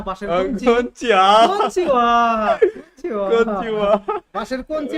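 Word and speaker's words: こんにちは: মানে আমরা কি করলাম কোনচি কোনচি ওটা হবে না।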